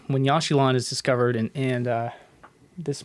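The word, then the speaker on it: Yaxchilan: hopefully we'll we'll touch on um so in yashilon when yashilon is discovered and uh this might need to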